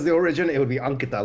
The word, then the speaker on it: Ankita: It just would be Ankita. Uh like almost like almost like saying ank like you know the word ank.